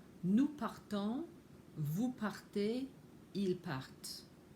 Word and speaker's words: partent: Je pars, tu pars, il part, elle part, nous partons, vous partez, ils partent. And note that the ENT on the end of il part is not pronounced.